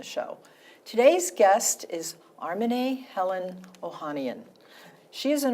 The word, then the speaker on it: Armineh: animals welcome Helen welcome Arman you know I know that your the pronunciation of your name is Arman not arm because um I listened